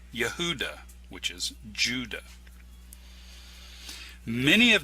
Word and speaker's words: Yehudah: name jorge wahey in relation to the name yehudah which is judah many have noticed that the hebrew letters in the yodhi oahe are identical to the name yehudah with the exception of the letter dalit the